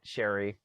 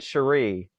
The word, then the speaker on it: Sherry: here sherry i almost did it sherry i almost said cherie i'm like i'm at